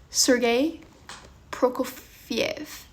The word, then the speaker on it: Prokofiev: Sergei Prokofiev.